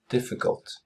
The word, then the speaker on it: difficult: Difficult. Difficult. Ikke en U, men en A.